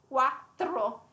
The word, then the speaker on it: quattro: It's quite hard to pronounce, to be honest. It's a quattro. The two T's and the R.